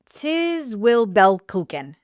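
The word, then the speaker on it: Zwiebelkuchen: So it's called Tis Will Belkuchen. Say it again. The ZW is a TS.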